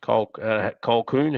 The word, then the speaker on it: Colquhoun: Colquhoun, how do you pronounce that?